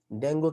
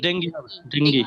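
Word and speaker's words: dengue: বেশি শুদ্ধ হইতে গেলে সমস্যা আছে, কিন্তু উচ্চারণ কিন্তু ডেঙ্গি।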